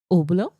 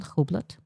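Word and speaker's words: Hublot: It's pronounced obl. But where's the h though? Abot. Abot. Is it abot? Not hobot.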